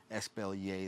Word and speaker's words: Espalier: So Espalier, that's how you pronounce it.